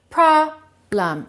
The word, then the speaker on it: problem: Which one is correct? Problem or problem? Problem. Stress the first one, reduce the second one.